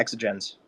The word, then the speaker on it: Exxagens: Exxagens. Did I say it right, Paulus? Yeah, Exxagens.